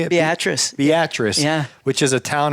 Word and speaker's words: Beatrice: a trip how do you say it Beatrice Beatrice yeah which is a town of how many